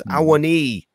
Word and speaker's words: Awoniyi: It's Awoniyi. It's like a double E at the end.